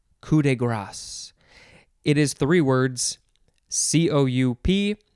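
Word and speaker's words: coup de grâce: whoop next word is coup de grace cou de grace it is three words c-o-u-p second word d-e third word g-r-a-c-e looks like grace it's pronounced grass and you can have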